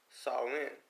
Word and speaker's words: Samhain: Halloween's origins date back to ancient Celtic festivals of Samhain, pronounced Samhain.